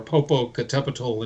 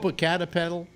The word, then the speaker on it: Popocatepetl: I climbed an active volcano back in the late 80s that you can't climb anymore, Popocatepetl in Mexico. Yeah. And we actually made summit. Isn't that Popocatepetl?